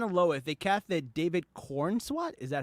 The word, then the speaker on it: Corenswet: So Superman and Lois, they casted David Corenswet.